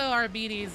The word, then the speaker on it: Arbites: But also, Arbides is the official Games Workshop pronunciation.